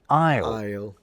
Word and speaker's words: isle: They would never to be pronounced B in plumber, a mute C in indict, a ludicrous L in salmon, and a stupidly silent S in isle.